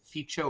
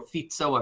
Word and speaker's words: Fico: um I forget how I think you'd pronounce it ficho or fito I forget how fic but it's pronounced like his last name I think it's fito um who's radically anti-